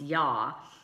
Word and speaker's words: Yah: holy name you'd hey which you know is pronounced yah and is at the end of many Hebrew